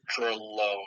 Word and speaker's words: Dr(L)one: I create music under the artist name Dralone. It's spelled D-R apostrophe L and apostrophe O-N-E. You know, really convenient, but it's a play on drone and loan, so it's Right.